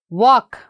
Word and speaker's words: walk: it and what about this one walk here we are not saying yell isn't it walk and what about this